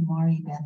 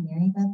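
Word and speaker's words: Maribeth: It's supposed to be Mari Beth. It's spelled M-A-R-I-B-E-T-H. So it's not really Mary Beth, but I say Mary Beth. But my parents say Mari Beth, and they combine both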